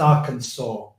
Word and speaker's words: Arkansas: that's where I'm registered to vote it it's pronounced Arkansas incidentally um in in in the states that's